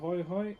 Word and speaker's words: hae: The way you spell hai, H-A-E, Hae is how you spell it.